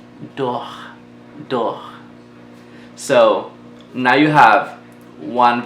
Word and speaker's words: dors: In French, you don't really say the last letter sometimes, or at least most of the times. So we're just gonna say dors. We won't say doors with the S, so you kind of eliminate that.